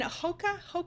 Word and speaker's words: Hoka: All right, so the owner of UGG and Hoka, is that how you pronounce that?